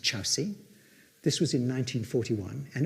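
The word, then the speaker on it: Kyaukse: It's spelt Korksi, it's pronounced Chowsi.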